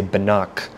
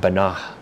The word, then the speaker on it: Banach: We're going to say Banach. But really, when I see those characters, I should really be saying banah. So I probably didn't pronounce it properly that time, but a